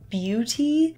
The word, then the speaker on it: Biutee: for today this is a brand called Beauty but it's spelled b-i-u-t-e-e and they actually have